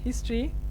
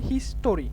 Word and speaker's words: history: আচ্ছা, Bengal's হিস্ট্রি, এক্ষেত্রে এখানে যে আমরা যখন হিস্ট্রি এটা উচ্চারণ করে আমরা বলি হিস্টোরি, এটা কিন্তু ভুল, এটা কি হবে? হিস্ট্রি, হিস্ট্রি উচ্চারণ হবে হিস্ট্রি।